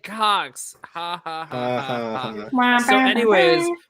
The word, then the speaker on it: Cox: So it's spelled COX and it's pronounced Cox.